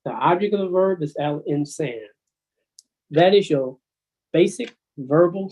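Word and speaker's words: الإنسان: Al insana. Al insana, but the period, you will say al insan.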